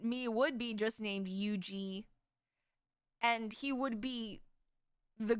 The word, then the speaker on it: Yuzi: Okay, so originally in Korean, my name is pronounced Yuji.